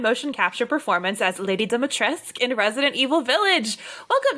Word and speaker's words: Dimitrescu: Apparently, I've learned now that apparently it's more accurate for the Romanian language to pronounce the U at the end, but that was not the direction we were given when we shot the game, so I say Dimitrescu.